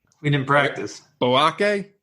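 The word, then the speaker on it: Boakye: Boyake? We didn't practice. Boake? Boache.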